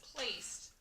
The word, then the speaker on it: placed: So that is with a D, and you have to make sure you say that D. Otherwise, it's not actually the word. Placed. So that soft C and that D together, it kind of sounds like a T.